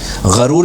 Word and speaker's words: غرور: غرور کیسے کہتے ہیں؟ یعنی اگر غین کے اوپر زبر ہو, غرور.